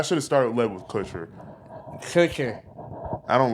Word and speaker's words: Kutcher: she was Mila Coochie, and he was Ashton Coochie. Not even. Kutcher. I get the Kutcher. Kunis. Kunis is not Coochie. It's close. No. It's close enough. I should have started led with Kutcher.